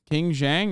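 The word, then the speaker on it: Qin Gang: nerd anyway uh King gang King Zhang is how you say is the highest level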